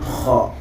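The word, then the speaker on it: خاء: Tu vas les prononcer par la gorge. Par exemple, Kha ou Aïn.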